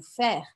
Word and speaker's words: faire: no final da palavra a gente viu que o e no final da palavra eu não pronuncio então que no caso